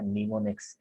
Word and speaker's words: mnemonics: और प्रोनाउंस उसको हम पढ़ते भी क्या है, mnemonics।